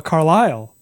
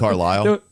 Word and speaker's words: Carlisle: You gave him a Carlisle. It was Rick Carlisle. Yeah, you went Carlisle, but it was like a Carlisle. Carlisle. Yeah. Okay. Inflections was different there.